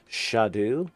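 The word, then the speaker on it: Scadutree: It's spelled C R S C A D U tree but pronounced shadu or shadow shadow tree and it's the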